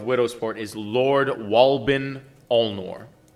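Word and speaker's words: Alnor: sovereign ruler of widow sport is lord walbin ulnor spell that last one all nor a-l-n-o-r wal-bin al-noor donnie would also know he is a he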